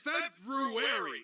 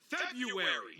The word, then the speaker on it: February: FEBRUARY. IT'S PRONOUNCED FEBRUARY. NO, IT'S NOT. YES, IT IS. SAY IT RIGHT. LOOK AT THE SPELLING, YOU DICK. YOU WANT ME TO SKIP A WHOLE R?